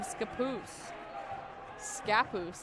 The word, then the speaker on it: Scappoose: A sophomore from Scappoose, as I've been told. Putting the emphasis on the wrong syllable.